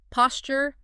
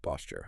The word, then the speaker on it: posture: that T and J sound blending to create a ch sound. Posture may pontour like in Tuesday or tuna posture.